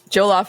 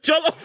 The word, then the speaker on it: jollof: off joel off rice maybe did you say joe love right jollof rice i can't i can't say it right yeah did i say it wrong it's just jollof rice jollof rice yeah you're